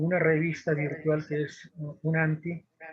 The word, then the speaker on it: ONANTI: Y bueno, eso es UNANTI, ¿no? Se escribe ONANTI, pero se pronuncia UNANTI.